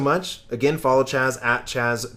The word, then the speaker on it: Chaz: Again, follow Chaz at Chaz.